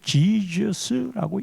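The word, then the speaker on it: Jesus: 영어로는 발음상으로는 제수스이지만 이거를 지저스라고 읽지요.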